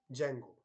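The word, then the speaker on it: Django: टू यूज the framework जंगो तो उसको actually वो लिखते वक्त डी जंगो लिखते उसको वो डी जो है व साइलेंट होता है लेकिन पढ़ते वक्त उसको जैंगो बोलते हैं जंगो और जैंगो फ्रेमवर्क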